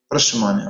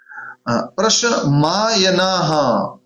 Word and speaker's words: प्रशमायनाः: प्रशमानया, sorry मानया नहीं है, वही बताना चाह रहे, मैं फिर से गलत कर रहा हूं। प्रशमायनाः, प्रशमायनाः, गलत उच्चारण किया मैंने।